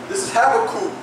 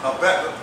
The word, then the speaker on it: Habakkuk: This is Habakkuk chapter 2, verse 1. And some people pronounce it Habakkuk, but we down south, Habakkuk.